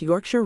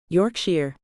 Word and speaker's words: Yorkshire: You pronounced Yorkshire right. Yorkshire. Not Yorkshire."